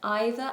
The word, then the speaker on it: either: In American English, they are pronounced either and neither. So either, neither, either, neither. It's a difference in vowel.